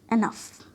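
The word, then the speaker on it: enough: क्या साउंड दे देती है? फ। जैसे रफ, कफ, लफ, एनफ। और कभी ये जी एच साइलेंट भी हो जाती है, जैसे हाई, बॉट, दो।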